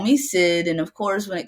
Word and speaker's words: Syd: don't kid vote for Sid and uh of course in each of these ways I always kept kids spelled with the kyd because my name is spelled s yd and um and so a